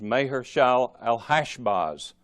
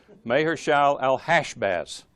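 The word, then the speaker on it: Maher-shalal-hash-baz: concerning may heart that the thing the correct pronunciation is mayor shall L hash Baz unless not something's not a name you hear every day mayor shall L hash baths and that name by the way means quick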